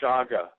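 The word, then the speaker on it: chaga: on uh with the I think it's pronounced Shaga mushrooms spelled c h a g I believe um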